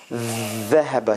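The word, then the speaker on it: ذهب: So look at my tongue now, how I will pronounce these letters. Dhahaba. See, the tongue is all the way out and under the teeth.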